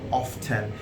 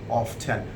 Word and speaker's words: often: first one is t e and afar people pronounce this word as often people even claim that americans do pronounce these words of ten this is wrong both in british and american